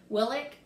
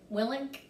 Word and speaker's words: Willink: joe rogan and jocko how do you say his last name willik willink i think that's it very timely uh you